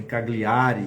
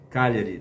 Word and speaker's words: Cagliari: Essa nova equipe inclui a apresentadora do nosso programa sobre saúde, a Luísa Cagliari, que a gente pronuncia também Cagliari, que aí é uma pronúncia brasileira, mas é italiana, esse nome é italiano, Cagliari, tá?